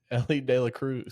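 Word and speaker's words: Elly De La Cruz: De Cruz. Say his name again. Ellie de la Cruz.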